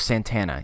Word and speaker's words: Santana: Stephen, it's pronounced Carlos Santana.